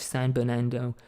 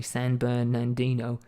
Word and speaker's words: San Bernardino: endangered species for which san bernando was sorry san bernardino told you it was terrible where the pronunciations it was created to